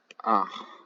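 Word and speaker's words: אָח: gun brother this is pronounced ah with a slight like kind of guttural sound at the end and if you ever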